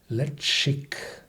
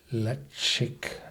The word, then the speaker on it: Ledaig: are expressive in nature pronounced le chic le chic yeah this is a